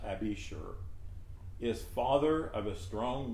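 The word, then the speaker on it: Abishur: we know abashur a-b-i-s-h-u-r it's pronounced abby sure is father of a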